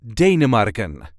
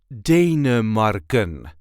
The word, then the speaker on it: Denemarken: There is a light emphasis on the first part. Denemarken.